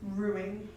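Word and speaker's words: roux: so um sorry how do you say again ruin ruin so R it's kind of weird it's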